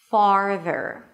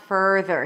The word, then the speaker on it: farther: Don't skip that middle part farther. And also don't bring that middle part, the R sound in too soon. So it's not further because then it's going to sound like further.